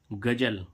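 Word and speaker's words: ghazal: ऐसे ही इसमें देखें जी ए जेड एल गजल। गजल मीन्स क्या होता है? गजल। तो देखो इसमें जेड का उच्चारण क्या निकला? ज। लेकिन यहां पर क्या आया? नुक्ता वाला ज।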